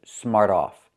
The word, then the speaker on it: smart off: Smart off. When you say it together, the T changes to a fast D.